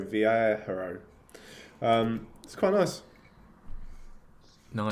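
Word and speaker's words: Viajero: um it's spelt v-i-a-j-e-r-o v-air hero um that's quite nice no just clarify that that's 499 pounds yeah 499.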